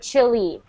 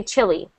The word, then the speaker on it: Chile: not like Chile but Chile and when we have uh we have it sound the exact same as chili chili chili three different words sound